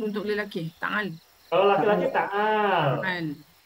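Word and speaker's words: تعال: Kalau laki-laki ta'al. Ta'al. Tetapi ta'al itu asalnya ta'ala. Cuma di wakof ta'al. Ya. Sukun kan ada sukun kan.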